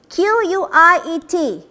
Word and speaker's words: quiet: quiet and quiet is by focusing on the pronunciation qu IET quiet though yet sound at the back de qu AR te